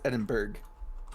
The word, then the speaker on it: Edinburgh: Well, mine's Edinburgh. That's how you pronounce it.